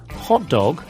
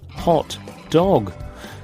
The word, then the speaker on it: hot dog: The stress is on the first word. So try saying hot dog with an equal stress on both words. Hot dog. This means a dog that is hot. Then say it again with the stress on the first word. Hot dog. That's a type of sausage snack.